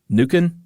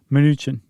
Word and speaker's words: Mnuchin: Fed Reserve Chair, and Steve, how do you pronounce that? Harvey? Mnuchin? Oh, yeah. Mnuchin? I thought you were talking about somebody else. Mnuchin.